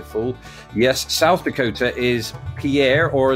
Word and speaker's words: Pierre: yes South Dakota is Pierre or as locals pronounce it Pier um I believe that's